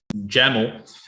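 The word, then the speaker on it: YAML: Then the pattern, and this is something that we have not discussed before, but in JAML, rhymes with camel, you can use one of these pipes if you want a multi-line pattern.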